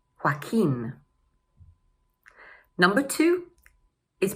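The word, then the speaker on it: Joaquin: So, the first one is pronounced: hwa-keen.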